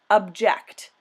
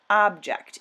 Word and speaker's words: object: we would pronounce it object note that this is a different word than object even though they're spelled the same way the stress is on a different syllable objections means the reasons